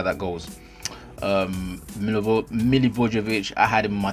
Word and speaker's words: Milivojevic: So at the middle of the park, I went with Eriksen, Romeo, Bernardo Silva, Milivojevic, and Milivojevic.